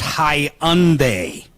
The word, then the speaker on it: Hyundai: is it a Hyundai hyund it's pronounced hunde and if you want